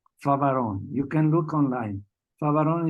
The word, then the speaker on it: Favaron: Favaron is spelled F-A-V-O-R-O-N, Favaron, Pedro Favaron.